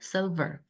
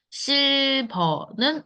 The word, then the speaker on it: silver: silver. 우리가 너무 잘 알고 있는 silver. 우리는 실버이지만 영어로는 silver. 그쵸? silver. 약간 미묘하지만 생각보다 많은 발음의 차이가 있어요. silver. not silver. 실버는 우리나라 발음. 그리고 영어로는 silver.